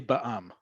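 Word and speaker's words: בע״מ: When you have the option to pronounce the acronym and by um mainstream society it's pronounced, we'll pronounce it. Okay? So, in this case, we say ba'am. Okay? It is always going to be um uh uh pronounced as its acronym.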